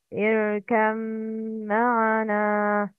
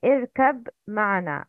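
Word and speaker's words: ارْكَبْ مَعَنَا: mim are متجانسين صغير ba is silent and followed by mim متحرك Please repeat after me the correct pronunciation. Irkam ma'ana. That is the correct. But the wrong is irkab ma'ana.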